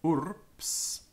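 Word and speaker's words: urbs: BS, note that the PS sound in the word urps is pronounced with a P. So urps, urps. It's pronounced ps, even though it's written BS. So absorpeo, urps, is pronounced with a P and not with a B.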